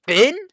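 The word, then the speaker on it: Fionn: the M wait it's finin it's pronounced finin the O is silent interesting so it's okay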